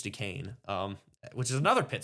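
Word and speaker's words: Duquesne: So, um they start off against against Dukane. I hope I'm pronouncing that right. Even though it looks like Dquent uh I think it's Dukane.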